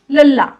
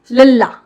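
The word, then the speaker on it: ਲੱਲਾ: लल्ला, LAL double A, लल्ला, लल्ला।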